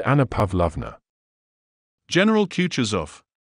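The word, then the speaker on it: Kutuzov: said anna pavlovner general kutcher's off said balkonsky speaking french and stressing the last syllable of the general's name like a frenchman has been pleased to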